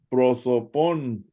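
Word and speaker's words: πρόσωπον: Pro, Prosotón, proso, prosotón, prosopón, prosotón, pon, pon.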